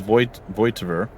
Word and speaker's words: Voigtveer: It's Voigtveer. No G. G is silent.